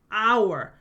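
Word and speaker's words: hour: University 라고 하게 되고요 our 한 시간이라고 하잖아요는 시간 h 모음이 아니죠 ae I O 유로 시작 안 했잖아요 근데 발음할 때 어때요 h 소리가 안 나면서 our 아 소리로 시작했잖아요 그래서을 붙여서 on our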